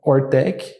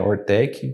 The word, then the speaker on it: Hoortech: que mudar tudo né então ortec Eh na pronúncia seria horta com tecnologia mas o nome em si é tem H tem duplo o então foi tentando sair